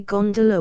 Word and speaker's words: gondola: the fraternity as a gondola with the second syllable emphasized and pronounced long but to return I